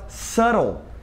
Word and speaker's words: subtle: Outra palavra que é assim é a palavra subtle. Subtle, que escreve subtly, né? Mas esse B não é pronunciado e fica subtle, como se ele não existisse.